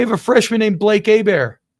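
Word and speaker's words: Hebert: They have a freshman named Blake Abear. How about that? Probably pretty good. Herbert or Abear? Abear? No. Abear. HB RT. No, no, no. H E B. Heert. Herbert.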